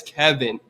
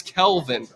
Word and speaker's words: Kelvin: And it's Kevin. No, no, no. It's Kelvin. Kelvin.